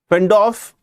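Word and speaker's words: Pufendorf: Fendorf, this P you can understand is going to be silent in the pronunciation.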